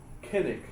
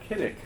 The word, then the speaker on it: cynic: You might pronounce it kenic instead of cynic. Which which way do you pronounce the letter C? You know, it's if you look it up in in Greek, it's K. So it would be kynic.